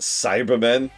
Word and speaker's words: Cybermen: Oh my god, they're pronounced Cybermen.